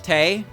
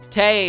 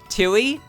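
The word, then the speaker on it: Tewi: it's the same with tay so tay her name is t-e-w-i but you don't pronounce the w so you just pronounce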